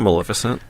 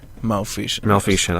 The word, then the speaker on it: Maleficent: Were we talking about Maleficent? Maleficent. I'm sorry. I'm so sorry. I mispronounced it.